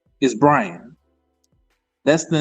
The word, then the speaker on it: Brian: name and said Bri, I could say no, it's Brian. That's my name. My name is not Bion. My name is Brian.